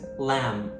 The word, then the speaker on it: lamb: Another common one is the B after M like in comb and lamb.